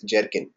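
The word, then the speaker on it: Gherkin: are called Jerin keywords GH e r k i n okay how to pronounce Jerin not gin it's jerkin okay this is like this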